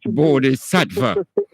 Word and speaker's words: Bodhi Sattva: I pronounce it right, my brother? Yeah, Bodhi Sattva.